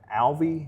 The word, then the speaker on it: Alvey: wrestled, I believe, Colton Alvey. Yes. I know you had a little bit of trouble with that name before. But that's how you pronounce it. You pronounce Alvey. It correctly.